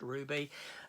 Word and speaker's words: RWBY: this universe called Ruby RWBY I pronounced Ruby um and I have